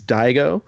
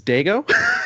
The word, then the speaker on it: Daigo: His name is Daigo, and I, for the first time, when trying to explain a story about how I met him, pronounced him as Dago.